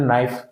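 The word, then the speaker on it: knife: रहा इसी तरीके से आपने नाइफ का उच्चारण में के का उच्चारण नहीं करते नो ठीक है इसमें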